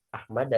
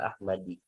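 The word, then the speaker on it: أحمدَ: Ya, meskipun ada huruf jar nih dia Ahmada dibacanya enggak Ahmadi.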